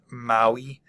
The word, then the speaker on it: Maui: end Hawaii um and Maui I don't put the emphasis there because there's no apostrophe so O ahu um